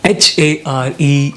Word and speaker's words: hare: H-A-R-E and H-A-I-R are the words which have taken the 4th spot on this list, and the words are pronounced as hare.